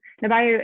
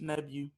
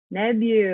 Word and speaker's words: Nebu: Nabayo, is that how you say your name? Did I say it right? It's Nebu. Nebu.